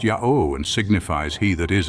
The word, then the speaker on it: Yahweh: that the Hebrew Tetragrammaton, or mystic name, is pronounced Yahweh and signifies he that is and shall be. Diodorus states that the same 4 letters were pronounced by the Samaritans as thus Jahve, by the Jews as Yahweh.